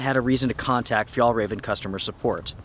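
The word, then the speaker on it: Fjällräven: trousers by the way that is how I pronounce f Raven some people may say F Ren or something or other F Raven is how I've heard it pronounced in the stores even in their own stores you could pronounce it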